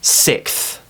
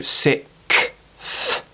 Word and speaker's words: sixth: So I just want you to imagine, how do you say fourth? How do you say fifth? I want you to just do the same. So I want you to go sixth, sixth.